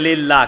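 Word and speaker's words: لله: লাম লাম হা থাকে, যাকে আমরা উচ্চারণ করি লিল্লাহ।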